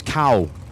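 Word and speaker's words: Kaʻū: Apparently, and I may still be wrong on the pronunciation of this, but it's Kau, Hawaii.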